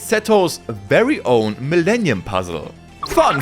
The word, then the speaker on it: Seto: And the name Setto comes from the Egyptian deity sets pronounced setto in Japanese who is none other than the brother of Osiris better known to us as Slifer.